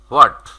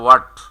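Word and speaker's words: what: আরেকটা রয়েছে আমাদের হোয়াট, যেটাকে আমরা সঠিক উচ্চারণ করতে গেলে ওয়াট।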